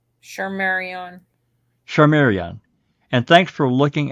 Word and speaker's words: Shardayreon: that had my twin, and how do you pronounce her name? Shardayreon.